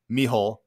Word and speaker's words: Mícheál: l so two l's and o'neill and it's pronounced mihole and it's spelled m i c h e